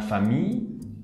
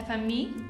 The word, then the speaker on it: famille: De hecho, no se pronuncia casi como las dos L al final. Es como si hubiera una I larga. La famille. La famille.